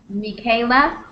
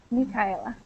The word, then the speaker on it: Michaela: name sorry oh yeah my name is michaela mikayla yeah yes exactly i'll spell it out for you here it's like this me kyla okay okay nice to